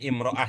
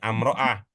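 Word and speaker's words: امرأة: bawah di bawah lag udah kalau biasanya di bawah bacanya imroah ya Pak ya Nah kecuali kalau bapak punya tradisi yang lain mungkin karena memang ee beda kebiasaan biasa di atas bacanya amroah tapi kalau biasa di bawah bacanya imroah gitu ya Ya silakan dibaca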